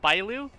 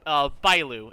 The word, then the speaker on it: Bailu: Something I've noticed about the companion quests is that I was hoping for Himiko, Clara, and Bailu. I'm butchering the last one, I forget her name. Bailu. It's spelled Bravo India Alpha Lima Uniform is how you spell her name.